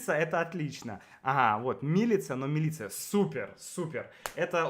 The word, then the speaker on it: Милица: Милица говорит, что ударение на первом «и». Да ладно, милица? А я точно... я слышала, как кто-то говорил «милица». Да, я тоже слышал. Мы тоже думали «милица», а потом нам Да.